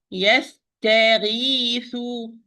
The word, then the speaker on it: يستغيث: يستغيث. يستغيث. If I say يستغيث, look, يستغيث, it will be heavy. If I do not open well, ta is wrong.